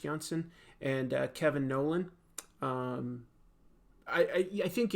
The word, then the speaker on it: Janson: JJ Jo Robin Steen Klaus Janson I think it's pronounced Johnson and Kevin Nolan I